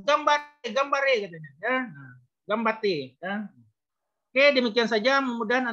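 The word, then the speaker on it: ganbatte: Ah, Gambate, ya, Gambate bahasa Jepang. Dibacanya Gambate. Nah, N-nya agak hilang sedikit.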